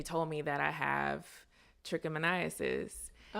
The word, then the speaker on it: trichomoniasis: causing the infection and the infection is called trichomoniasis okay that's the one you can just call